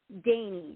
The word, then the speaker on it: Dani: first name again sweetie Dany like Danish or Dy Dany Dany Marie can you can you spell your first name yes it's D is in David a n is in Nancy I and it's a long a wow that's a beautiful